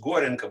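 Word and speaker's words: Gorenko: so this is called silence away by the way if we take seriously the pen name it should be pronounced gorenka but i hear that other people pronounce it so i'm not prepared to debate it i'm only saying that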